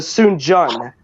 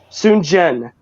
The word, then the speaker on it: Sun Jian: Three Kingdoms era, but he was related to Sun Jian. It's spelled S-U-N space J-I-A-N. Sun Jian.